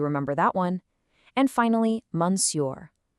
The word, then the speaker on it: Monsieur: It looks super tricky to read, but we actually pronounce it like this. Monsieur. Can you try that? Monsieur.